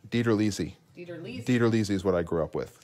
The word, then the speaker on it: DiTerlizzi: up dana lizzy your parents pronoun your family pronounced it dieter lizzie dieterlizi theater lizzie's what i grew up with so the delete